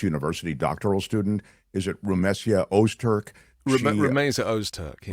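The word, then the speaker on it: Rümeysa Öztürk: name, the Tufts University doctoral student, is it Rumesia Ozturk? Rumeysa Ozturk. Yeah. Rumeysa Ozturk.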